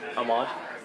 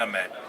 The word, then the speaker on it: Ahmed: sure it's not Ahmad? Whichever one. It's spelled the same as yours, right? No, different. Oh. I have A. He's has A. Oh, it's Ahmed. So, Saladin Just say Ahmed.